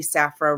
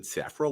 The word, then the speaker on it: Saffro: pronouncing your name right, and I said Saffro, like Afro, and you kind of had a little grin on your face.